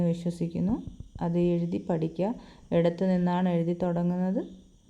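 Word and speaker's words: نون: നമ്മളെ മയുടെ ശബ്ദം മീം അടുത്തത് നൂന് നമ്മുടെ നായുടെ ശബ്ദം വരുന്നത് നൂന് ഇത് വാവ് നമ്മുടെ വായിന്റെ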